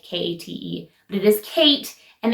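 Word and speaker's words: Ckite: t e I don't even know if it's pronounced Kate like k a t e but it is Kate and they sell women's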